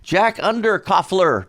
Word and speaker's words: Jack Underkofler: and uh the singer and guitarist with us jack under coffler did i pronounce it right yes you did yeah you